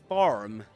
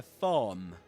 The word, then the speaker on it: farm: In British English, in standard British English, you will usually say in standard southern British English, a farm without pronouncing the letter R.